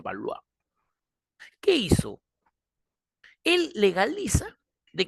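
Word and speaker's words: Valois: los baloa los balois escribe balois se pronuncia baloa Qué hizo él legaliza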